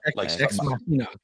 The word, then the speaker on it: Ex Machina: La Machina or Ex Machina. Ex Machina. Ex Machina.